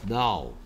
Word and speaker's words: know: 그다음 now. No. K가 소리 안 나요.